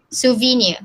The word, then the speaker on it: souvenir: who would like to respond how do you pronounce s-o-u-v-e-n-i-r yes sophini souvenir okay thank you so i'll need to find